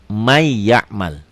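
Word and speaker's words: مَنْ يَعْمَلْ: May ya'mal. Ya, tulisan dan bacaan beda. Ditulisnya man ya'mal, dibacanya di may, jadi double y ya. N-nya hilang.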